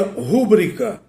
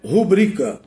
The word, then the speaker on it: rubrica: sílaba tônica incorreta exemplo muita gente pronuncia rúbrica mas na verdade é uma silabada porque a forma correta é rubrica poucos pronunciam rubrica muita